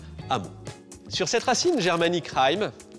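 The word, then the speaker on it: hameau: dictionnaire de l'Académie française avec la prononciation moderne amot.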